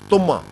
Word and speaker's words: Tumma: It looks like a melon, it's very shiny, it's very yellow, and it's referred to as or pronounced as Tumma in Gurbani.